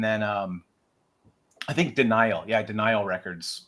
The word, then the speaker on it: Denial: Yeah, Denial Records, which is spelled like D-I and then like nihilism, Denial.